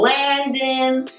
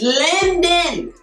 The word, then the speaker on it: Lyndon: Now, I don't know why so many reviewers get his name wrong, but they call him Landon. His name is Lyndon. Lyndon James. Say it with me, Lyndon.